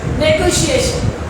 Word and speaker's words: negotiation: किसी भी जगह सीन की साउंड नहीं देता, शन की साउंड दे सकता है। क्वेश्चन, क्वेश्चन, शन और चन, ये दो साउंड देता है TION।